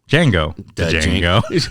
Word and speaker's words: Django: question tarantino movie django django the d is silent his billy yeah shango